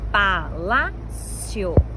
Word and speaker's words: palácio: Que palácio é uma palavra que recebe acento? A regra base, a regra geral é que é uma paroxítona terminada em ditongo, paroxítona penúltima sílaba mais